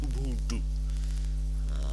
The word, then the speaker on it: Ubuntu: And it's technically pronounced Ubuntu.